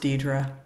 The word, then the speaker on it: Deidre: Just want to tell you my name's pronounced Deidre.